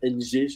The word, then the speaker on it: Ng: à le prononcer Philippe NG en fait le NG pour pour se prononce comme un M aspiré il prononce comme enitouord OK